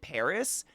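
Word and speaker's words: PVRIS: a song with uh I think you pronounce it Paris it's like a PV r i s stop I know we've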